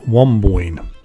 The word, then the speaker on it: Wamboin: Road, which takes me to an area called Wamboyne. That's spelled W-A-M-B-O-I-N, and you might notice it on the large stone sign as I drive up Norton Road.